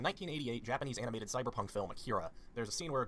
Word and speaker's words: Akira: Also, yes, I'm pronouncing it Akira and not Akira, because that's how Chester Bennington pronounced it.